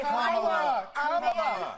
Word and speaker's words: Kamala: Let's start, lefties, with this almighty group meltdown on CNN because Nancy Mace allegedly mispronounced Queen Kamala's name. Watch this demented carry-on. And right. Kamala Harris, if Kamala, you said I will say Nancy any way that I want.